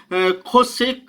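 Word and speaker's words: חושך: चोसेक शब्द इस्तेमाल होता है और उसका उच्चारण जो है खोसेक करते हैं। खोसेक खोसेक ऐसे करके, मतलब क्योंकि गले से बोला जाता है ज़्यादातर, तो खोसेक वैसे उसको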